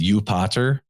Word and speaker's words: Jupiter: you know yahweh right jupiter would have been pronounced as you potter by latin speakers you being a derivation